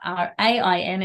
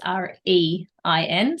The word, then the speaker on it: Rein: So is spelled, and then my last name is Rein, but not Rain, it's Rein.